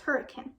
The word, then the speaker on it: Hurricane: She was from a small southern Utah town called Hurricane, pronounced Hurricane by the locals.